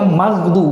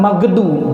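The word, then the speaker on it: المغضوب: Ghairil magdu itu harusnya magdu, bukan magedu.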